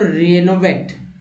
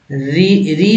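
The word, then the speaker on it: renovate: अगला वर्ड है दोस्तों रेनोवेट, री नहीं, रेनोवेट, रेनोवेट मीन्स नया करना,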